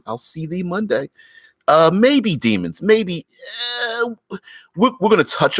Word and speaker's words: daemon: Demons and devils and fiends and those kind of things. What are the other ones called? Daemons. It's pronounced demon anyway, but you get it.